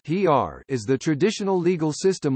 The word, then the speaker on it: Xeer: Xeer, pronounced "hr", is the traditional legal